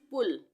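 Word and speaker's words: pull: है तो यहां पे इन वर्ड्स में हम छोटे उ का उच्चारण करेंगे पी यू डबल एल पुल छोटे उ चरण है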